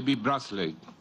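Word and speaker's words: Beasley: mundial de alimentos david bradley así que se pronuncia el apellido de vibras late este programa ha recibido el premio nobel de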